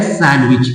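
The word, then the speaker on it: sandwich: ही होगा है ना इसे हम लोग बोलते हैं सैंडविच लेकिन क्या है ये ये है सैंडविच डी साइलेंट है सैंडविच नहीं है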